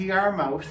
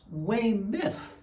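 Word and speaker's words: Weymouth: we're on our way down to Y mouth and I went yes sir H I never heard it put that way before oh how do you pronounce it well no it's way myth oh maybe I shouldn't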